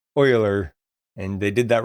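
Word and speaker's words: Euler: The uh partial credit for pronouncing uh I almost said it wrong for pronouncing oiler correctly. It's e u l e r. Um that's pronounced oiler, noter.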